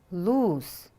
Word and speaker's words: lose: win yes it is listen lose oo is long it's an irregular verb